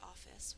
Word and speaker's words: office: syllable ah second syllable in normal speech when we say office we only hear one F sound but we sound it